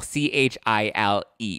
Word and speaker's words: chile: So there's a common term that people use, and that's chile, C-H-I-L-E, right? It spells like chili, C-H-I-L-E, but it's pronounced chile, like C-H-I-L without the D, which is supposed to be like child without the D, right?